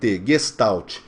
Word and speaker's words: Gestalt: Gestalt se escreve com G maiúsculo E-S-T-A-L-T, Gestalt.